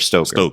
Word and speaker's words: Stoker: Stoker, not Stroker, Stoker. Yeah, no R. The R is silent.